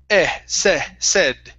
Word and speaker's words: said: Now remember, instead of said with a long A, it's a short E. Said. Said.